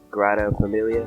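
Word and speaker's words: Sagrada Família: I'm never saying it correctly. What is it? It's the Grata Familia.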